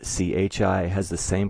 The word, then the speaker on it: chi: It explains that CHI is pronounced like key, spelled KI.